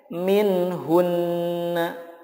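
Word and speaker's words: منهن: Selanjutnya min hunna. Nah, ketika waqaf dibacanya menjadi min hun. Min hun. Gunahnya tetap muncul.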